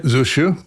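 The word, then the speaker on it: Zusya: Um you you several times you tell a story a hidic tale about I don't know how you pronounce it. Rabbi Zus Zusu Zusu.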